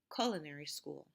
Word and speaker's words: culinary: the wrong syllable so the correct way to pronounce it is having the mark on the first syllable culinary school okay so